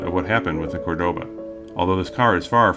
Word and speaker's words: Cordoba: And yes, that's Ricardo Montalban pronouncing this car's name as Cordoba, despite the fact that I'm sure he knows the name should be Cordoba, with the emphasis on the first syllable, not the second. Cordoba.